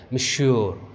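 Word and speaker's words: Monsieur: You heard, अब देखिए यहाँ पे मैं प्रोनाउंसिएशन आपको बता रहा हूँ, ठीक है, ये जैसे हम इंग्लिश में सर कहते हैं तो वैसे यहाँ पे फ्रेंच में मिश्योर मिश्योर मिश्योर मिश्योर डि ट्रेवल।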